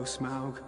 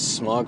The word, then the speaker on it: Smaug: Yeah, which I might add, I just recently learned that the proper pronunciation of Smaug is Smaug. It's Smaug, dude. Smaug? Yeah. Wow. Yeah, I thought it was Smog for the longest time, So and did then...